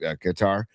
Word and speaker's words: Qatar: So I do think that's what's going on with Qatar is that it's just people say Qatar, but I'm pretty sure it's actually pronounced Qatar.